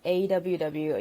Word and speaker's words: AWW: I work as a producer for a company called AWW. You can see on my screen, it's pronounced AW.